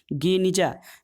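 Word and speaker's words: Geniza: गेनिजा, दोस्तों यहूदी गेनिजा जो है वो क्या है, सीलबंद कमरा गेनिजा, जिसका उच्चारण गनिजा के रूप में किया जाता है।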